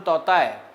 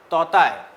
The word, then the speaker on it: Tauktae: First, cyclone Totai, though spelling of this TAUKTAE is there, it is pronounced as Totai.